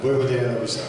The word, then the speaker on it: Vojvodina Novi Sad: Et puis vous avez commencé en fait à 18 ans à jouer en professionnel à Vojvodina Novi Sad. Vojvodina Novi Sad. Ça va, c'est bien prononcé là.